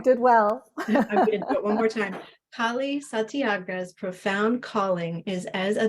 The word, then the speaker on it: Kali Satyagraha: had talked earlier to make sure I would pronounce nikali's uh name correctly so you did well one more time Kali santiaga's profound calling is as a dakini or awakened